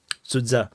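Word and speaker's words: Sudzha: So that's how the Russian word pronounce it. Suza.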